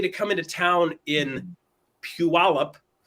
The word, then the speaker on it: Puyallup: still have to pause to get it right Puyallup it looks like there's too many letters in